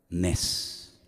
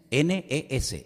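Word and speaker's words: נס: ¿Sabes cómo se dice milagro en hebreo? Nes. Nes. N e s. Nes.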